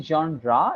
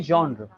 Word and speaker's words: genre: story yeah okay first of all uh the pronunciation of the word is not exactly genra it's simply genre genre okay yeah uh and could you pronounce